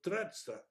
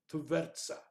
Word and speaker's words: Tvertsa: Interestingly, shown the results of a series of real-life experiments conducted on the river Tretsa, I don't pronounce that, Tvertsa, in the Soviet Union, Rusino.